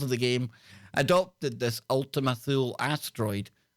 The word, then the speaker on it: Ultima Thule: the new Horizons spacecraft ultimate sill or Ultima fool pronounced Ultima Thule the announcement press release